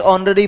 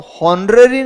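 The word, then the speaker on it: honorary: इसके ऊपर आया हुआ है इट is dash ऑनरेरी post. अब इसको होरेरी नहीं बोला जाता क्योंकि जो शब्द होता है एच ओ एन ओ यू आर या इसको ऑनर नहीं कहा जाता। दिस इज ऑनर कहा जाता है।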